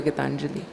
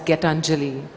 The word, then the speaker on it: Gitanjali: Not as Getanjali or, Arg or Nick or, Surabh.